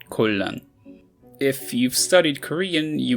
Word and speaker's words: 곤란: If we took this word and applied the readings of each constituent hanja, we would get quasil, but instead the word is spelled. Similarly, for this word, we would expect, but instead we get colon.